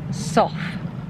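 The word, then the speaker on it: Sough: power of the cromford sof I think that's how you say it s o u g h a Lead Mine drainage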